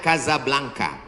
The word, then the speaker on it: Casablanca: kuliah nama negaranya Maroko ibukotanya tulisannya Casablanca cara bacanya Kasablanka Kaza artinya rumah blanka